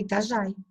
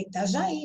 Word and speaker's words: Itajaí: Se eu não puser acento, eu vou ler Itajai. Né? E o correto é Itajaí, não Itajai.